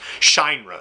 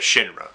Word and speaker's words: Shinra: idiots out there that always thought it was pronounced shine run instead of Shinra I argued with [